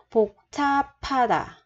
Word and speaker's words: 복잡하다: Trong trường hợp này, bà chim là bi ấp, theo sau nó là chữ hờ, thì chỗ chữ hờ này mình sẽ đọc là p. P, bấm mở bật ra là p.